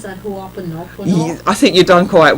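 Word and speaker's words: Hoʻoponopono: How do you pronounce that? Ho'oponopono?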